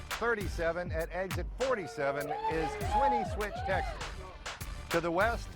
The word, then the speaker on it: Swinney: So is it Swinney Switch or Sweeney Switch? Swinney, S-W-I-N-N-E-Y. Well, I see how it's spelled, but people pronounce it a couple different ways.